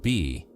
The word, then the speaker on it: bi: But what they left behind above all were jade discs known as by pronounced be.